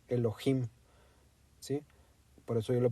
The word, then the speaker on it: Elohim: del inglés pero la la fonética es con j es Elohim Sí por eso yo